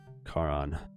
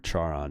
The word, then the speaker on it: Charon: this guy his coins Karan or Chara depending on how they decided pronounced him will these coins do is fair for passage Charon accepts the fair share and waves Alexander on sankaran but whatever like the H is silent I pronounce things differently